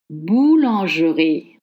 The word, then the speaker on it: boulangerie: Boulangerie. Maybe that's what you think you should say. No, it's boulangerie. Boulangerie. Let's study the pattern. G, E, R, I. The E is dropped.